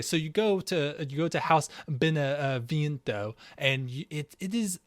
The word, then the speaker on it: Beneviento: Oh God, can you pronounce this for me, please? Yeah, Beneviento.